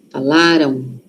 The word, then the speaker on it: falaram: Aqui a sílaba forte tá no lá. Falaram. Falaram. Aquele M ali. Tem som de o aqui, ó. Falaram. Tem, mas é um O muito suave. Por quê? Porque a sílaba forte tá antes, não está lá no M, tá aqui antes, ó.